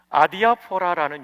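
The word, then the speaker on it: ἀδιάφορα: 아디아포라인데 발음 기호 영어식으로 해드릴게요. 읽으시도록 알파, 델타, 이오타, 알파, 파이, 오미크론. 이번에 오미크론이 O예요. 그 다음에 이거는 P가 아니고 R 발음 나는 로예요. 로, 알파. 액센트 여기에 있어요.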